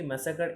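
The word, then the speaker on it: massacre: ওকে, next রয়েছে কি, ম্যাসাকার MASSA, ম্যাসাকার CRE, এখানে কার বানান কিন্তু CAR বা CER তা নয়, কিন্তু CRE, ম্যাসাকার বানানটা দেখতে হবে।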